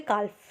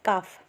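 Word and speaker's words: calf: अब आपको डॉग से पप्स मिलेंगे, कैट से किटन और काऊ से काल्फ। ठीक है, काफ, sorry it's नॉट काल्फ, इट्स काफ, sorry for the pronunciation.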